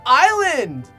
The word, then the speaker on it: I-Land: and just the whole time shouting just it's pronounced island you stupid this show is a perfect example